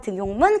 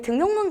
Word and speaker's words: 등용문: 자, 이 등용문 같은 경우는 니은 첨가로 발음이 되지 않는 예로도 제가 굉장히 많이 냈었던 아이인데, 자, 그래서 제가 이렇게 얘기 드렸었죠.